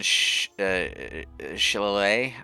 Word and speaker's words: shillelagh: Right now, I want like one shillelagh, I think is how it's pronounced.